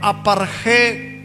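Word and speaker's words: ἀπαρχή: dice Cristo las primicias así se escribe en griego y se lee aparejé cristos primicias Cristo Cristo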